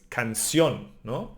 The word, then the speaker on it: canción: It's song, We have an over the O an accent, so it's canción, We emphasize this one.